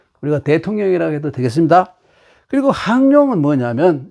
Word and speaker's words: 항룡: 항이라고 읽어요. 항룡, 비룡, 잠룡.